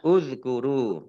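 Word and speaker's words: اذكروا: Nah, ini kalau dibaca sendiri bacanya uzkuru.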